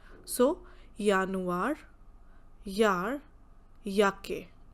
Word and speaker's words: Januar: J sounds like yacht, means every time wherever we have J, we pronounce it as Y. So, Januar, Yar, Yake.